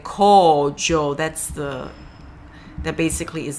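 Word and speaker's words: 荒城: being used or desolate it's co it's a long o co Jo no y no is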